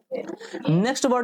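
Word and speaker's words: numb: करेंगे हम फटाक से ने वड देखेंगे नव नव का मतलब क्या होता है एन यू बी नव नव का मतलब यहां पर क्या होता है यहां पर एम जो है व साइलेंट है तो नव का मतलब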